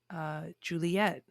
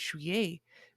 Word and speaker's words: juillet: remember the word July, I always pronounced it as Juliet, like Romeo and Juliet, because I didn't know that it was Juillet, because I had no one to pronounce the word for me.